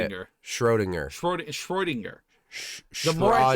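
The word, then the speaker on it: Schrödinger: Oh, that's the Schrodinger's cat? Is it Schrod? How do you say it? Schrodinger.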